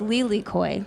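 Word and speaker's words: lilikoi: this one in Hawaii passion fruit um is pronounced Lely Koy oh that's beautiful I know I kept seeing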